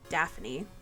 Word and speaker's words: Daphne: If I had to guess, Daphne used to be Daphne. 2 syllables, not 3 syllables.